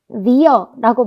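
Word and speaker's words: vier: 이름에서 알 수 있다시피 이 V는 F 발음이 납니다. 그래서 fear라고 많이 하시는데 fear 아니고요. fear입니다. fear. 네, 그리고 지난번에 에야가 에야로 읽힌다고 했었죠. 그런데 이 에야가 이렇게 단어의 뒤로 오면 더 축소해서 에야라고 하기보다는 어라고 읽습니다. 그래서 이렇게 fear 이렇게 읽으시면 됩니다.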